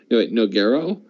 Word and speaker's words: Nogueira: no no ger on nogueira yeah yeah okay the nogueira is a no-go actually nogueira that's funny cuz that rhymes with black arrow which is the next